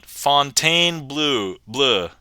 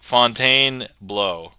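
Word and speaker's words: Fontainebleau: and then um f Fontaine Blue Blue but actually we were discussing and if you pronounce this correctly cuz like bow is be auau so this should be uh Fontaine blow yep exactly okay apparently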